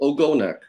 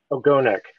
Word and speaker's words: Ogonek: which is by a young composer named Elizabeth Ogonek. Am I pronouncing her name correctly? Oh, Ogonek. Ogonek.